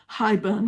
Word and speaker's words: haibun: Oh, it's also my first haibun, which I understand is properly pronounced something like haibun, but I'll say haibun.